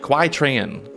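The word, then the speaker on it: Qui Tran: We got Kai Tran. Is that Kai Tran or is that Quai Tran? How do you pronounce that? Q-U-I, Quai Tran.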